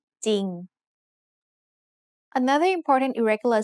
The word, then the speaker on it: จริง: It has an initial consonant cluster of จอจาน and รอเรือ but the รอเรือ is silent. So we pronounce this word as จริง Another important irregular spelling